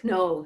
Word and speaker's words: know: we have no week know something the K is silent now gnosis the way